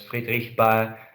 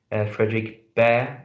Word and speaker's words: Friedrich Bhaer: Friedrich Bhaer, which actually would be the more or less Friedrich Bhaer, the German way to pronounce it, but here we pronounce it like Friedrich Bhaer in English, notices that Joe is quiet.